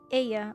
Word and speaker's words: Ea: When the vibration of vocal folds was still required to convey our thoughts and intention, Aya, I believe, was the pronunciation used when referring to our people.